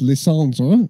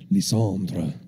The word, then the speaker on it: Lysandre: Oh, yes, Lysandre, or Lysander, however you want to pronounce it. Lysandre. Sounds a bit more imposing.